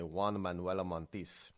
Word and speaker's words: Juan Manuel Montes: His name was Juan Manuel Montes. You have to say it really fast. Juan Manuel Montiz.